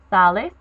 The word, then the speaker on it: sal: ends up being salgo Salis Sal salimos Salis and Salin you do not pronounce the L said form as s it's Sal you have to stress the a now Sal can be